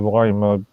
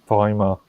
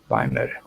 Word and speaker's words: Weimar: You keep on calling it the Weimar Republic. Weimar. Remember Weimar. what? Yeah, what the German would use the W, it would be a V.